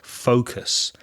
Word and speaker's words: focus: way raise a pronounced Focus that's sometimes mispronounced by Spanish speakers the first vow sound is O like go or show or no Focus and the difference between